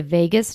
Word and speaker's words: vagus: So you might have heard of the phrase the Vegas nerve. It's spelled not like Las Vegas. It's spelled V A G U S.